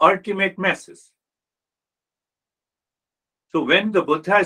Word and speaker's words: Buddha: means old very old so the actual pronunciation is Buddha it comes from the